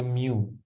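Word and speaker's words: μ: Ini bacanya mu ya. Mu ya, mikro.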